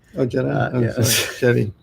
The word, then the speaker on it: Jedi: That's pronounced Jedi. Oh, Jedi. Yeah. Sorry. Jedi.